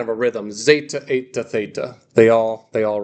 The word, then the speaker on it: theta: Zeta, eta, theta. They all rhyme. We got zeta, eta, theta. Theta is a TH sound, just like in the name.